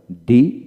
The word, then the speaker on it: the: ডি এর উচ্চারণ দুইভাবে হয়। ডি দা। ডি এর পরবর্তী ওয়ার্ড এর প্রথম অক্ষর বাউল হলে ডি উচ্চারিত হবে এবং কনসোনেন্ট হলে দা উচ্চারিত হবে।